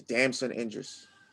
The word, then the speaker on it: Damson Idris: It's Damson Idris, I believe is how you say it. Damn, son.